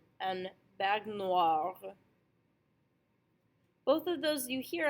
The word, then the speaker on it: baignoire: So the most common is OI, is pronounced wa.